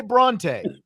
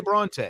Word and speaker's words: Brauntae: He did say Bronte, right? Like he did say Bronte.